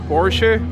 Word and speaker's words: Porsche: Porsche a over there see I said it right he said how you say it Porsche I'm continuing the lineup